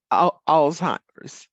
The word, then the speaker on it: Alzheimer's: Alzheimer's. Alzheimer's, yes, Alzheimer. You just kind of let it roll. just Alzheimer's. Yes. Alzheimer's. Okay. Yes. So tell us the difference Mm-hmm. in Alzheimer's and dementia, because I